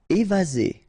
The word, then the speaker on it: évasé: Évasé. Remember, one S between two vowels. Z.